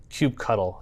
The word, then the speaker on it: kubectl: All right, so the next thing I need you to install is kubectl, or kubectl. It depends on who you ask of how you pronounce it, which is this.